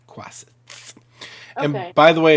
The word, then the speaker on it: quasit: Quasit. Okay. And by the way, if you're looking for a cool variant familiar, that's the one you want. Because, no, I want a crow. Guess what your Quasit could do?